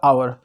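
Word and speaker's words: hour: यहाँ पे आप देखोगे तो आपको एच साइलेंट नजर आएगा, ओ यू आर पढ़ना पड़ेगा आवर, एन आवर पढ़ना पड़ेगा, इसको एन हावर नहीं पढ़ना पड़ेगा।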